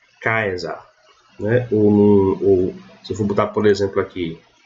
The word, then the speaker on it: Caesar: Então, nesse exemplo aqui, eu vou ler Caesar. Caesar. Ok? O C tem som de quê? Nesse mesmo exemplo, eu leio Caesar.